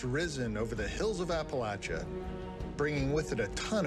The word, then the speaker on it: Appalachia: The blue moon has risen over the hills of Appalachia, bringing with it a ton of great new content for players. I went my whole life pronouncing it Appalachia, and now I feel stupid.